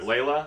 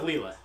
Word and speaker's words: Leela: leela on the right sorry laila does it pronounce layla leave with leela okay the double e all right that's true